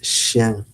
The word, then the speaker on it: chien: Dog is chien. Le chien. It's spelled c h i e n. So, chien.